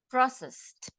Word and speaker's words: processed: in this case no we don't pronounce Ed when the ending is s we pronounce like processed right processed so as